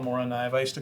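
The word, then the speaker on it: Morakniv: So Moranive, when I was at SHOT Show, the guy from Mora actually said it's Moranive.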